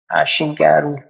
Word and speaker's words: Ashigaru: uh you can just open um ashigaru RS ashigaru okay that is how it's pronounced actually RS yeah you can see my